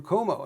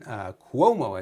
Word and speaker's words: Cuomo: Andrew Cuomo, another one, Cuomo, I should say, pronounce the name properly.